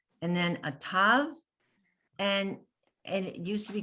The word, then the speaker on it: tav: It's all now tav, and it's T. It doesn't matter, a T sound, whether it has a dot in it or no dot.